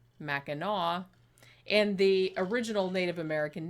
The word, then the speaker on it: Mackinac: island it's weird because it's spelled like it should be pronounced mack and nack like it ends with the sea but it's actually pronounced Mackinac and the original Native